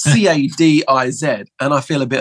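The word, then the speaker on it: Cádiz: world I've been picked up on my pronouncing pronunciation so I'm starting to say things like but it's c-a-d-i-z and I feel a bit of a prick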